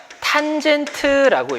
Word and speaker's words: tan: 얘를 뭐라고 읽냐면 탄젠트라고 읽어요.